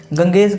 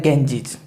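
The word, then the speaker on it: Ganges: ना अब इसका हम प्रनंसीएशन कैसे करते हैं गंगेश करते हैं ना लेकिन इसका जो प्रनंसीएशन है वो क्या होता है गेंजेस क्या होता है गेंजेस और देसी कोसी भी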